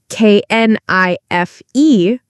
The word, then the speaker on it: knife: Or the k at the beginning of knife. We write k n i f e but we say knife.